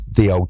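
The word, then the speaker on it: ye olde: I tell you it's the old shop right because that y that y that's just a replacement for the TH or the thorn because Le print impressed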